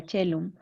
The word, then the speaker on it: caelum: por ejemplo en el caso de caelum que indicó que era cello en la indicación decía